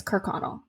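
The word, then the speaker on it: Kirkconnell: whole other podcast but that's how you pronounce her last name on google pronunciation and i read just three different links and it says kirk connell so yeah that's where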